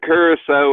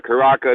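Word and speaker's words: Curaçao: wants to do beer Blue Curacao or Karaka depending on how you pronounce it and you know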